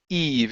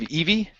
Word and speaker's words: Eve: and right here this this name is Eve instead of Eevee Eve Eve so Eve